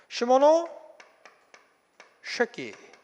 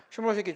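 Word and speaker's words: 시모노세키: 발음을 잘해야 됩니다. 잘못하면 약간 욕이 될 수도 있어. 시모노 쉐키 조약이에요. 시모노 쉐키 조약이야.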